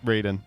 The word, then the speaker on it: Raiden: Do you say Ryden or do you say Raiden? Raiden. They're I think they're spelled the same way, but yeah.